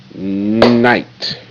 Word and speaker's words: night: Come across, you see the K and the GH got lines under them. That means they are silent. You will not see them in the sound box.